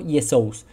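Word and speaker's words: Iēsous: los textos del nuevo testamento como yesous Pero qué pasa que la primera letra La iota en griego tiene una equivalencia al latín la i que también tiene otra forma que es una jota hoy en día suena como J pero históricamente la J ha tenido una transformación fonética antes no sonaba como una J por ejemplo en español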